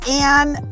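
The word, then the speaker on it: Ayn: what's your middle name my middle name is anne um but if you read it you'll think it's i my mom named me after ein rand um we would pronounce it and yeah my mom my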